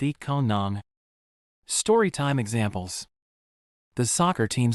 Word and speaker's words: อีกคนหนึ่ง: อีกคนหนึ่ง Pronounce it like eat kon nung. Imagine saying I can earn but replace I can earn with eat kon nung.